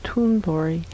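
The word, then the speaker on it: Thundra: talking about her name tundra and there is no h sound in her native language that's right and so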